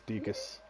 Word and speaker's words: Deku: Is it Deku? Deacus. Yeah, I think. Deacus. I asked at one point, it's Deacus.